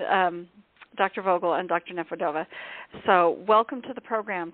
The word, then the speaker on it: Nefedova: correct me and um Dr vogle and Dr neova so welcome to the program to both of